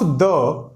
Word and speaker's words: the: यूज ऑफ द, अच्छा पहले तो हम लोग ये जान लें, द को हम लोग कभी दी प्रोनाउंसिएट करते हैं, कभी कभी द।